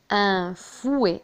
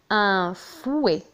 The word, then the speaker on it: fouet: un fouet avec T à la fin ولكن لا ينطق. un fouet.